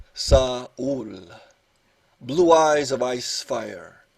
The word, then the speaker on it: Saul: Saul, pronounced Saul, blue eyes of ice fire, canyon-bronzed crevices folded on a sheared face, coffee mountain beard, bright notes, interspeckled philosopher raconteur.